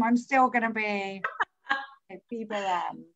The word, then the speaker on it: Boheme: And don't forget to look up, so I'll say it right this time, Boheme.